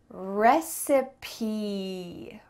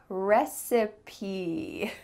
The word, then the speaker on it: recipe: Beautiful pronunciation. Let's go to the next one. How about this word? Recipe. Recipe.